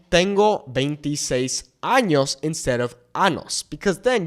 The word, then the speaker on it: año: Many times I hear people use the word ano meaning anus when what they really want to say is año meaning year.